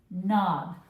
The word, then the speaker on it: knob: So remember that mouth is wide open. And he's going to say n-n no you don't to the K when he sees him coming.